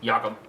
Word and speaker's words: Jacob: is it Jacob markstrom yakob yakob marrom I think Yak it's just not spelled like most yakob I think it's yakob 299 Patty Kane to